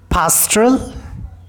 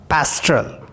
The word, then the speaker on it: pastoral: So in the similar manner, here we have pastoral or pastoral. When we will pronounce it in American way, A will become A sound and per will not be aspirated.